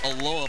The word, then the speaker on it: Aloha: It's spelled Aloha High School in Beaverton, Oregon, although it's pronounced Aloha by the folks over in Oregon.